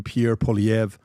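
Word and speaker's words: Pierre Poilievre: Carne Pierre Polv. Uh I'm finally pronouncing it correctly.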